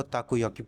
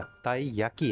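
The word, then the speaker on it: たい焼き: क्योंकि म चन को ताक याकी बहुत ही अच्छे लगते थे ताकू याकी और ताई याकी मैं गलत प्रोनाउंस कर गया ताई याकी है उसकी आंखें बहुत ही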